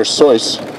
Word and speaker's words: Seuss: the pseudonym dr seuss the correct pronunciation is dr seuss his mother was german her maiden name was soyuz i also learned this